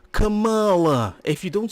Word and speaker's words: Kamala: She said her name wrong. It's Kamala.